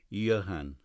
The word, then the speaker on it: Johann: Brewster gave the name it's Germanic pronunciation Johann Biff could only distinguish a